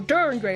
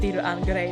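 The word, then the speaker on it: Dir en grey: I've done that mistake too, but I think it's supposed to be pronounced Dir and Grey because that's how it's written in katakana.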